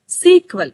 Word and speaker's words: SQL: of course next actual का द एसक्यूएल is pronounced as सीक्वल एस एस ई क्यू यू ई L okay